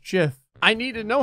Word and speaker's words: gif: fun ah the puns gif is now pronounced jiff I need to know